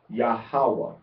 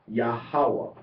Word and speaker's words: Yahawah: Thus, we arrive at the natural pronunciation of Yahawah. Yahawah. Now, we can pronounce it three different ways. We can pronounce it with the accent on the second syllable, which is most common